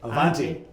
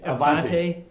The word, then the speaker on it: Avanti: the Avanti Entrepreneur Network, I keep saying it wrong, I feel like. What is it? Avanti. Just Avanti.